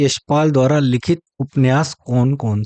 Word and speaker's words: उपन्यास: ये सभी उपन्यास जो है, इसको कई लोग जो है उपन्यास भी कहते हैं। उपन्यास उच्चारण गलत है, सही उच्चारण है उपन्यास।